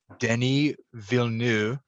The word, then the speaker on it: Denis Villeneuve: this show early last month and that is denis villeneux which i looked it up that's how you pronounce his name uh french canadian filmmaker his